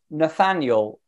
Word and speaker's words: Nathaniel: It's a hard name to pronounce. Yeah, it's Nathaniel.